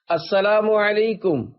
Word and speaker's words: السلام علیکم: لے۔ 11، سلام اور جواب سلام کا درست تلفظ یاد فرما لیجئے۔ پہلے میں کہتا ہوں، آپ سن کر دہرائیے۔ السلام علیکم، اب پہلے میں جواب سناتا ہوں، پھر آپ